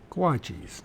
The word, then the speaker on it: guachis: Guachis, not gauchis, guachis. Guachis.